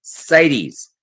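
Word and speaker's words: CITES: Sites, that's how you pronounce that.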